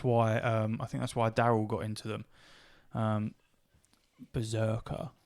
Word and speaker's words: Brzrkr: Berserker. It's spelled Brzrkr.